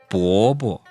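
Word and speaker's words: 伯伯: 伯伯伯伯伯伯伯伯 Now, notice we didn't say 伯伯 because that sounds like a second tone followed by a first tone. To make this neutral tone properly, you have to just let it kind of fall there.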